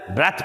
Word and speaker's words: breath: ब्रेथ पढ़ना है, ब्रीद नहीं पढ़ना।